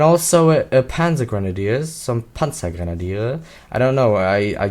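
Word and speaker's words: Panzergrenadier: But in German, it's pansa grenadier. So panza grenaders as most English people pronounce it.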